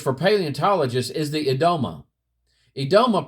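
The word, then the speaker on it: Yedoma: Edoma, pronounced Edoma, I guess that's, the Y is silent there, are hills with high proportion of ground ice.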